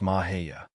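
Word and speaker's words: Mexia: to be transferred to Camp Mahia, which is pronounced Mahia.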